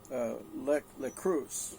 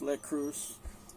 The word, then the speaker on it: Leitkreuz: And then the next part is lekreuz, I guess is the way it's pronounced. Something like cruise, lekreuz, which means light cross.